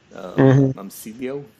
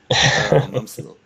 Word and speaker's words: Momcilo: Momcilio? How do you pronounce Momcilio? Momcilo.